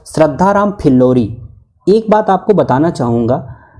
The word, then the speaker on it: श्रद्धाराम फिल्लौरी: एक बात आपको बताना चाहूँगा कि ढेर सारे यूट्यूब चैनल वाले और कई सारे मित्र हमारे वे इसका गलत उच्चारण करते हैं, श्रद्धाराम फुलौरी कहते हैं। कई ने तो ऑप्शन में कमेंट करके लिखा भी है, जबकि यह सही है कि इनका नाम क्या था? श्रद्धाराम फिल्लौरी है, ये श्रद्धाराम फुलौरी नहीं है।